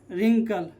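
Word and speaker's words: wrinkle: ठीक है, तो यहाँ पर R के पहले W आ रहा है तो क्या हो जाएगा, तो W साइलेंट, तो क्या हो जाएगा, रॉन्ग, राइट, रैप, रिस्ट, रेपर और रिंकल।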